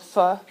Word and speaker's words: pho: Well, have you heard of Vietnamese noodle soup called pho? It's spelled P-H-O, right? So I'm just going to twist that a little bit. F-H-O. That's close, right? It's the F sound.